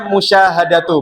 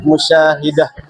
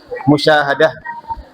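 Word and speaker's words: مشاهدة: Menonton ya hobi kamu menonton harusnya musyahadatu bukan musyaah. Musyahadah ya.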